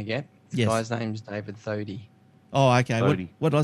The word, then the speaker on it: Thodey: All right, Toady. No, what is it? Thodey.